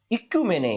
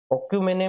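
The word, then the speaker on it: oikoumene: उन्होंने वैसे हिंदी में उच्चारण आप इसको ऑक्यूमेन कह सकते हैं, ऑक्यूमेने कह दो, या इसको आप इक्यूमेने भी कह सकते हैं, इक्यूमेने।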